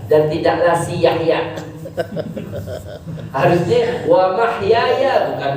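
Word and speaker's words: وَمَحْيَايَ: Ya, mungkin antum pernah dengar ada orang bacanya wa ma yahya, wa ma yahya, dan tidaklah si Yahya. Harusnya wa mahyaya, bukan wa ma yahya.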